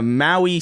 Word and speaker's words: Maui: That's spelled like Hawaii. Maui.